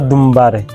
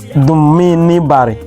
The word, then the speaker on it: Dumbari: Then number 9 here we have Dummi Bari or Dumbari. This one is Gokana language. While this one is Kana pronunciation, Dumbari. This one is Dummini Bari. Dummini Bari is Gokana.